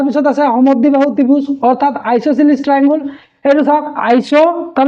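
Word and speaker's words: isosceles: ইকুলেটারাল triangle তার পিছ আছে সমদ্বিবাহু ত্রিভুজ অর্থাৎ আইসোসিলিস ট্রায়াঙ্গেল এটা সব আইসো তার পিছ এই এসট সাইলেন্ট হয়ে থাকে মানে এসট উচ্চারণ নয় আইসো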